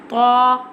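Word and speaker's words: ط: Tha. Tha pronounced from the tip of the tongue touching the roots of the top two front teeth like this.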